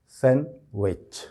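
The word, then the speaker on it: sandwich: इसमें भी कमोबेश वही सिलसिला है कि डी पर बिल्कुल स्ट्रेस नहीं करेंगे जब आप इसको प्रोनाउंस करेंगे या इसको बोलेंगे। तो ये लफ्ज़ सही किस तरह से बोला जाएगा? सैंडविच, सैंडविच। सैंड डी की आवाज़ अलग से बिल्कुल नहीं आनी चाहिए, और ये सैंडविच जो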